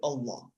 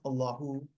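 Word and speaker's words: الله: So waqf, I would just say Allah. But grammatically, and if I'm continuing the sentence, I pronounce Allahu, continuing my sentence.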